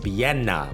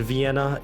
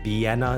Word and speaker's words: Villena: It's pronounced Vienna with an emphasis on the Y sound, the second syllable, and it's not a V sound in Vienna, it's Vienna, it's more like a B, so noted.